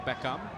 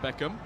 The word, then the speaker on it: Beckham: How it's said in Indonesia, Beckham, not Beckham.